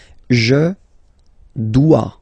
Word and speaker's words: dois: Je dois. Okay, remember final S is not pronounced. Je dois.